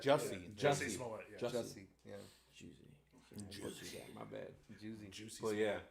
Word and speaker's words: Jussie: How do you properly pronounce his name? Jussie Smollett. Jussie Smollet. Yeah. Jussie. Yeah. Juicy.